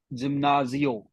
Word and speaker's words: gimnasio: El gimnasio. Gimnasio. Gimnasio. Gimnasio. Gymnasium. Gimnasio. क्योंकि because G is coming with I, so हम इसको produce Gimnasio. मतलब pronounce करेंगे gimnasio.